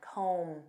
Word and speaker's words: comb: to comb through and notice that b is silent comb comb through this means to analyze